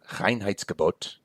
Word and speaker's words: Reinheitsgebot: Now, the Reinheitsgebot, as it's pronounced, it literally means purity order, which I think is just such a wonderful German word.